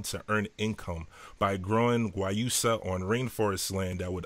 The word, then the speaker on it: Guayusa: Guayusa, I'm sorry. It took me forever to figure out how to pronounce that.